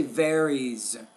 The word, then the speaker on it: varies: from culture to culture want to take the word varies the S because it comes after the uh vowel sound there excuse me I would say varies it sounds more like a z Americans tend to require